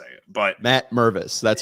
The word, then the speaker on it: Mervis: Like, I don't know how else to say it, but Matt Mervis, that's how you say it.